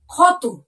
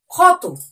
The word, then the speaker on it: ক্ষত: শব্দটি পড়বো সেটি হলো খত দেখো ভালো করে শব্দটা উচ্চারণ করো খত দেখো ক এর মধ্যানস ত বোঝা গেল উচ্চারণটি কার মত হলো খ এর মত দেখো বোঝা গেল খ